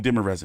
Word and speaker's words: Demirezen: We're going to call him Demirezen because I've been pronouncing his name all fucked up since, you know, God knows how long.